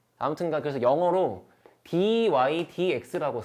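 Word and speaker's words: dy/dx: 그리고 얘를 읽을 때는 dx 분의 dy라고 읽는 게 아니에요. 그냥 dy dx라고 읽어. 이거 분수 읽는 게 아니야.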